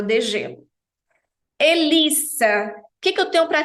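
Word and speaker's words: hélice: relação a essa palavra o H em francês nunca tem som nunca independente da posição que ele Exerça que ele esteja ali na palavra e com acento agudo você já sabe é o som Fechado Como se para nós no português fosse um circunflexo e Lis e final sem mudo profe o e na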